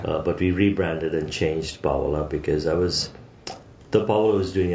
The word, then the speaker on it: Pawala: Probably gonna horrible make pronunciation of the restaurant, but it's Pawala.